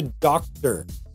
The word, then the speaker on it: doctor: Compare that to doctor. Doctor. In this case, because the C precedes the T, there's no way around that T. We pronounce that T and we would say doctor.